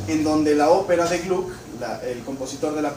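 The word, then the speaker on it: Gluck: La que nosotros vamos a tocar es la de Glu. Se escribe GL U k. Glu.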